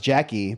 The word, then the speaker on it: Jacqui: It's spelled JACQUI. It's like, oh, like our Jackie.